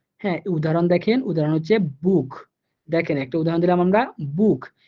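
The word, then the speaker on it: Buch: আমার সূত্রের ইউ পাইছি, এই জন্য আমি সিএইচটাকে এখানে খ এর মতো করে উচ্চারণ করব, বুক।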